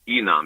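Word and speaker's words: INAAM: You pronounce it ENOM.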